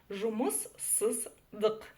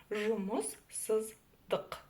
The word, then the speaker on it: Жұмыссыздық: Дальше везде идет буква И, которая, в отличие от русской версии, читается очень и очень коротко. Жұмыссыздық. Ну и в конце стоит буква К с хвостиком снизу. Чтобы ее прочитать, нужно просто оттолкнуться через букву К обыкновенную. Жұмыссыздық.